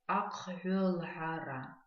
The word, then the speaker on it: акхвелхара: Переписывание, конечно, на абазинском языке акхвелхара. Давайте сразу потренируем произношение этого слова. В нем встречаются не самые простые звуки, поэтому давайте порепетируем.